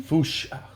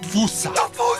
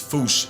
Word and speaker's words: fossa: Fusha. Sounds like Wait, how did he say it again? Fusha. Yeah, okay. Fusha. Like Foosh, with a performance anxiety at the end.